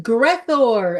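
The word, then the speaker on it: Gre'thor: The answer is Grethor, everybody. Greor, I would have got that. That doesn't have nearly enough syllables in it.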